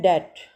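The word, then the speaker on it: debt: तो बी बी यहां पे साइलेंट है। इसको प्रोनाउंस नहीं कर रहे। डेट ठीक है? बी साइलेंट है।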